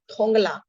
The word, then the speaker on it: थोंगला: शायद उसी दिन हम थोंगला, इसको पढ़ते हैं थोंगला, ये ग के उच्चारण में है।